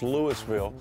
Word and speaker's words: Louisville: louisville louisville that's right those people in kentucky have a hard time with the annunciation it's lewisville spelled like louisville um and i took